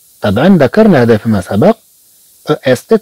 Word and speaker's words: est: طبعا ذكرنا هذا فيما سبق، est تنطق أي. طبعا هناك مجموعة ألفاظ تنطق أي، ولكن تكتب بطرق متعددة. مثلا كما عندنا هنا عندنا أ إس تي تنطق أي، مثلا أ تي تنطق